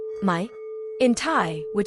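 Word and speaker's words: ไหม: Although mai for questions is pronounced with a rising tone, making it distinct from mai, meaning no or not, which has a low tone.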